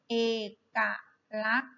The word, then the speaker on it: เอกลักษณ์: ลืม ขีด แบ่ง พยางค์ ด้วย นะ ลูก นะ เอกั รัก นะ คะ เอกลักษณ์ มี กอ ไก่ เป็น ตัว สะกด นะ คะ ตัว สอ รือ สี กับ